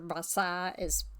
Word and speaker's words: Versailles: It's I think it's Bala Versailles, is how you say it, or Versailles is actually how you say that word.